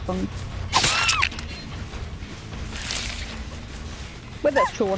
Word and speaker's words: Feng: Apparently the proper way to pronounce that is Feng. Because it's a I think Chinese name people say. Yeah, apparently you pronounce it Feng.